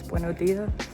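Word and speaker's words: Buenos días: We don't pronounce the S. Buenos dias.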